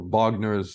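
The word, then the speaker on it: Вагнер: when we talk about Wagner or Bogner as you pronounce it in Russian is there anything to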